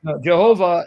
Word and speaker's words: Jehovah: opposed to Yahweh um because the evidence shows Yahweh is a mispronunciation say it again that's a European pronunciation Jehovah is the anglicized way of saying what's most likely the correct pronunciation okay so because evidence shows strongly that the word isn't Yahweh because even in the